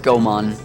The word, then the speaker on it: Goemon: heard people pronounce uh goon differently I say goon just cuz that's how I say it I know it's Goan but I say goon it's it's goon like